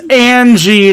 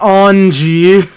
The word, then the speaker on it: Ange: way by the way it's angie not ong have i been mispronouncing